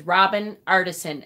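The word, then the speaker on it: Robin Artisson: But fairy is spelled FAYERIE, Faith. And it's the author is Robin Artison, ARTISSON.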